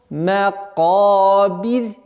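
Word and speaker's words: الْمَقَابِر: Макабир. Вот в данном случае ра, огласовка аннулируется над буквой ра, а вот буква ра сама подчиняется впереди стоящей огласовке кесра. И таким образом получается мягкий звук.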